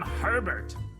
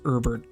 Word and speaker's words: Herbert: Not to be that kind of asshole, but technically his name should be pronounced Herbert, if that's the case, because, you know, the H is silent, and I'm just gonna be that kind of asshole.